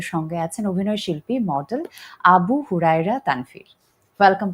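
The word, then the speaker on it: আবু হুরায়রা তানভীর: আপনি আমাকে শুরুর আগে বলছিলেন যে মানে আমার নামটা আমার নামের এক্স্যাক্ট প্রনান্সিয়েশন হচ্ছে আবু হুরায়রা তানভর।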